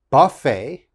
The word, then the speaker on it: buffet: chevrolet and the last one very difficult to pronounce uh this is a buffet buffet and of course a buffet is when